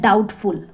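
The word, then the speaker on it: doubtful: डाउटफुल। डी ओ यू बी टी ई एफ यू एल। तो इसमें जो बी है वो साइलेंट रहता है।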